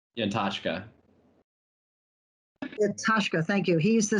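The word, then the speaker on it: Yantachka: Can you pronounce this? The legislator's name, Michael Yantaka. Yantashka.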